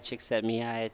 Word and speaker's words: Csikszentmihalyi: Yeah, I think it's like Mihai Csikszentmihalyi.